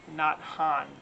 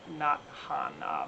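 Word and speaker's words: Thich Nhat Hanh: very well known antique not han t-h-i-c-h n-h-a-t-h-a-n-h i've always pronounced his name wrong but i think i finally got it pretty much right not han martin luther king jr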